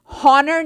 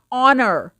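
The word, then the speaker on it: honour: हॉनर नहीं होता, ऑनर. ठीक है, ओ को प्रोनाउंस कर रहे हैं हम, एच को प्रोनाउंस नहीं कर रहे.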